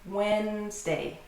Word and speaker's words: Wednesday: 2 syllables. This one has 2 syllables. Wednesday.